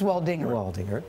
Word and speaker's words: Waldinger: it's your wedding anniversary wer waldinger it's waldinger okay it rhymes with Humdinger yes yes so how